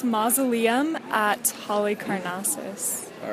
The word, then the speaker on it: Halicarnassus: So it's Mausoleum at Halicarnassus.